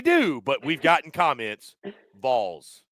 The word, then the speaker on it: Vols: Vols, not Vols. They get upset when you mispronounce. Like ball, put a V in front of it. I know it's weird. I know it's that Tennessee accent.